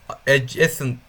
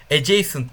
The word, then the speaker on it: adjacent: şunu söyleyeyim geçen videoda şu komşuluğa adjacent adjacent diye okunuyormuş Ben ne dedim tam hatırlamıyorum ama adjacent diye okunuyormuş Onu bir